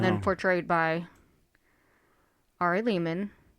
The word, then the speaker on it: Lehman: With Do you, Ari Lehman. rhymes with demon.